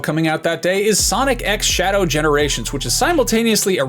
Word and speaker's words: Sonic X Shadow: of the Blue Blur there are a lot of different ways you can pronounce the X in the middle of a title like this and I'm told that in this case it is Sonic X Shadow which is maybe not